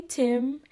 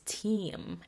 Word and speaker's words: team: the PNF live in the long and short e which is team so I was like